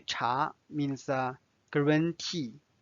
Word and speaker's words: 茶: The last word we are going to learn today is 茶. 茶. 茶 means tea, and it's the second tone.